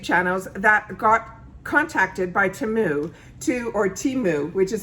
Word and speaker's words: Temu: Okay guys, as you can see by the thumbnail, I'm another one of those YouTube channels that got contacted by Temu, which is how it's properly pronounced, to go on their website and be